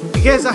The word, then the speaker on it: Eliezer: Modern Hebrew was created in Europe by Europeans, especially by Yehuda, Eliezer Ben Yehuda, pronounced eli'ʕezeɾ, Yehuda.